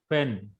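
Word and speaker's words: פֶּן: Actually, under pay there is a dagesh, so the pronunciation will be pen.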